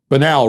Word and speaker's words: banal: but it's not banal banal rhymes with canal it's not banal rhymes with anal now I want to